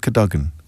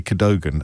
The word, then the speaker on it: Cadogan: And this is one of those things that you have to pronounce in a certain way, otherwise the toffs will know that you're not a proper toff. I think it's the Earl of Cadogan. Or you might say Cadogan, and I'd go, I